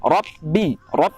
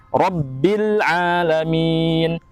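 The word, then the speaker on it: رَبِّ الْعَالَمِينَ: bertasydid apalagi ya hingga Robby Robby Robby jangan rob-b-hood di seolah ada huruf a ya rabbil alamin rabbil tadi seperti al-hamdu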